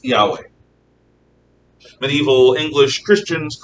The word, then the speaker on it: Yahweh: has consonants only ywh the ancient hebrews pronounce this yahweh medieval english christians call